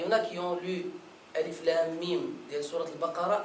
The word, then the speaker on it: الم: Alif, s'arrêter un moment.